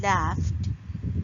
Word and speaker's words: laughed: For example, ed in laughed is pronounced as t because in the base form of the word laugh, it's ending with unvoiced consonant, which is f sound.